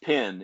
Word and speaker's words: PENN: It's pronounced PIN in Alabama, but it's spelled PENN.